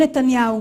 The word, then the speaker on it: נתניהו: Basta procurar um pouquinho para você encontrar o nome dele sendo pronunciado da forma correta em hebraico legítimo. זה היה לא אחר מאשר ראש הממשלה בנימין נתניהו.